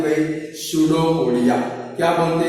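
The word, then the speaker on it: pseudopodia: सूडोपोडिया। आगे पी लगा है तो सूडोपोडिया मत बोलना। क्या बोलते हैं भाई? पी साइलेंट है। कैसा है भाई? साइलेंट। उसको क्या बोलते हैं भाई? सूडोपोडिया।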